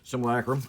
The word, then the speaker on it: Simulacrum: Simulacrum.